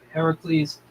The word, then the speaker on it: Heracles: Alongside heroes Heracles, which is the correct spelling and pronunciation, by the way, Heracles and is that Hippolyte?